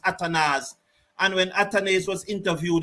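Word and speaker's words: Athanaze: I was there and saying that atanes is atanes somebody came and tell me that it pronounced atanas and when atanes was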